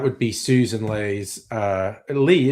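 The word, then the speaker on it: Ley: be Susan Le's uh Lee, isn't it? Just Ellie Y always want to pronounce it Lei. Everyone else says it's Lee.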